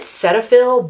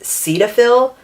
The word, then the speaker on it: Cetaphil: It is, I pronounce it Cetaphil, but I know in the commercials for this brand it's pronounced Cetaphil, but I'm gonna just say Cetaphil because that is easier for me.